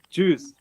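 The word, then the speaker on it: Tschüss: Yeah, like choose.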